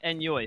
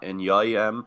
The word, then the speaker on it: Enyoy: It kind of is just a Swedish thing. The way they pronounce their J sounds a lot like a Y, so just kind of Pronex rolling with the meme.